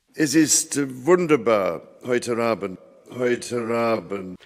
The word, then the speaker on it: heute: Heute Abend. For Charles, the German word heute rhymes with English Leute. They both end in schwa, which can be separated from a following vowel by linking R.